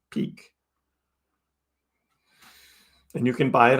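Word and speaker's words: Peaq: For those that don't know what Peak is, this is spelled P-E-A-Q, Peak.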